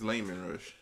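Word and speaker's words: Leman Russ: okay okay claiming lemon rush no it's Layman Rush we heard his name before Layman oh let me rushing okay he's not named after a fruit and you'll feel the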